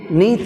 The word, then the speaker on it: beneath: beneath. Neath is second syllable, that's why we have stress on second syllable, neath.